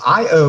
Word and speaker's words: Io: It's Io.